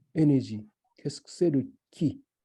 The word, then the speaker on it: ki: Qu'est-ce que c'est le ki? Le ki, le mot K-I, c'est mot japonais, et Ku-I, le mot chinois, la prononciation chinois, parce que japonais et chinois, c'est pas pareil, qui signifie, par exemple,